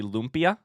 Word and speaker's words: lumpia: It's bad because you're saying it wrong. It's actually lumpia.